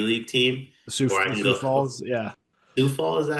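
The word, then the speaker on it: Sioux Falls: Sou Falls. Yeah. Soufall. Is that how they say that? Suf Falls. Yeah. So like half that word just is silent.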